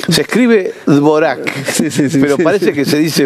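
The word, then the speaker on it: Dvořák: a mí me dijo Samaritano que se dice Dvorak. Se escribe Dvorak, pero parece que se dice Dvorak.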